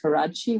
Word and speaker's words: Karadsheh: benefit of the audience it's pronounced karachi which is again a